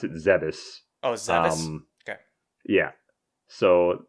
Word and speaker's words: Zebes: So they picked up Samus, brought her to, I pronounce it Zebes.